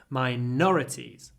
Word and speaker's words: minorities: of ethnic minorities so the stress moves minor minor the adjective minorities min minorities the noun minority hold the N minorities minorities in the previous